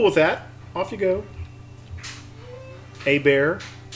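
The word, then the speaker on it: Hébert: that off you go a bear i'm pretty sure is how that's pronounced is he a louisianan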